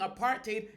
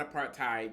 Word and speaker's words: apartheid: that us Aid played a part in dismantling a parted in South Africa and southern Africa overall in South Africa now remember it's pronounced a parted not a part tied you know think hate apart I'm not going